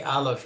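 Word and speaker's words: aleph: yeah so you length remember that the ALF is not the letter A even though in our alphabet Alpha is a is just a gutal up sound and you can't have a doubling of the up sound yeah yep that's great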